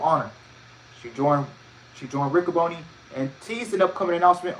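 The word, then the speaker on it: Riccaboni: honor roh's ren and uh ricoboni that's how you pronounce it hosted another facebook live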